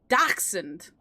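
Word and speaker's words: dachshund: wrong and just said dashed. You never said why I didn't say dash end. I said dashant. Dashund, not end kind of rhyme with hacks. Daxund like that daxund I'm not saying weeny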